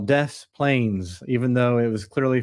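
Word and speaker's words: Des Plaines: America we have some towns that we call death Plains even though it was clearly French about three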